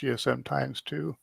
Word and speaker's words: GSMx2: gchq um Message Board GSM X2 pronounced GSM times 2 um and I'll be